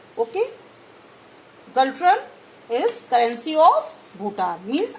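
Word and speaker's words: Ngultrum: Second picture is Galtrum and is silent here. Galtrum. Okay. Galtrum is currency of Bhutan.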